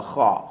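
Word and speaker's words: خ: Next box, second line, is the kha. Kha, you say it like you're clearing your throat.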